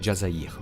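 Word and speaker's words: الجزائر: DZ, c'est en référence à l'Algérie, prononcé Jazzair en arabe et pays d'origine d'une bonne partie des cadres du clan.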